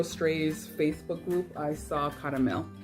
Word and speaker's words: Caramel: But then on the Zero Strays Facebook group, I saw Caramel. So her name is Carmel, but here it's pronounced caramel.